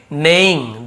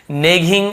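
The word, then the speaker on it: neighing: इसे भी क्या पढ़ेंगे, नेइंग पढ़ेंगे, ऐसे नेगिंग ऐसे नहीं पढ़ेंगे, नेइंग एक्चुअल उच्चारण होता है।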